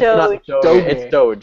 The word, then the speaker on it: Doge: It's Doge. It's Doge. Let's get Doge. You say Doge as you say GIF.